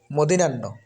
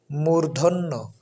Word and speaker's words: মূর্ধন্য: এজন্য দন্তন আর এই শব্দটি এই অক্ষরটি হচ্ছে মদিনান্য যেটা আমরা অনেকে সাধারণত বলে থাকি যে মদিনার কিন্তু সঠিক শুদ্ধ উচ্চারণ হচ্ছে মূর্ধন্য মূর্ধন্য মূর্ধন্য সুতরাং মদিনান্য না বলে আমরা মূর্ধন্য